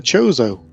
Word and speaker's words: Chozo: And the answer was the Chozo. Did I pronounce that right, Johnny, before?